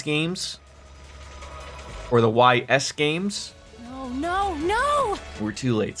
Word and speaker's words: Ys: It's pronounced like geese without the G. Ease.